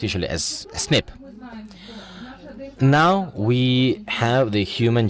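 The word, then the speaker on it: SNP: nucleotide polymorphisms what does that mean and it's pronounced usually as snip now we have the human genome decoded we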